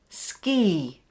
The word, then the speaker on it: ski: So now it's when the letter I is pronounced as the long E sound, as in the word ski.